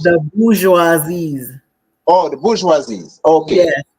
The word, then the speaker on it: bourgeoisie: How it's pronounced? The bourgeoisies.